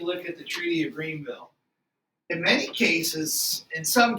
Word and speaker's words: Greenville: Let's take a look at the Treaty of Greenville. In many cases, in some cases, I should point out, this is spelled without the second E and it's pronounced Grenville.